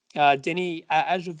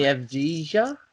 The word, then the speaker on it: Avdija: Denny Ajava, I always say his name wrong. I can't pronounce it right. Denny Avdija? Avdija, I think it is.